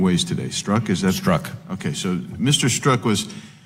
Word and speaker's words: Strzok: I wanted to get the pronunciation right. I've heard it about 5 different ways today. Strzok, is that? Strzok.